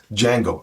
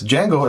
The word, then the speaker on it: Django: this wonderful EDC knife right here the kungu D Jango and yes D Jango is the right way to pronounce this word because for whatever reason right